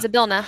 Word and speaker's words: Zabila: I feel like Zabila Zabila. Zabila. Okay. Like bill I pay my bill at the restaurant.